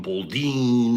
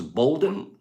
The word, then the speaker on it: Bolden: and i was going bolding and i was doing all these she wrote me in plops it's same thing as bolden golden just pronounce it the same way we do golden okay very very nice